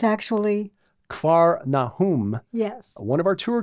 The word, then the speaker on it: Capernaum: arrest of John the Baptist from Nazareth to Capernaum which is how most of us pronounce it but we were told yes it's actually car Nahum yes one of our tour guides Messianic gaju